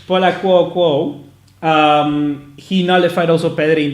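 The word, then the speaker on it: Akouokou: I don't want to mispronounce a name. It's Paul Paul Akuoko. Paul Akuoko.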